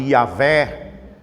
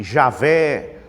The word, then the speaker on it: Yahweh: na verdade era YHWH, o qual pronuncia-se Yahweh, eu creio que esta é a pronúncia. Também as pessoas começaram a chamar de Yahvé, e Javé, Jeová, mas na verdade